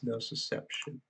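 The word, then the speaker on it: nociception: susception oh okay no it's actually pronounced no susception so I've been saying it wrong the whole time crap no susception are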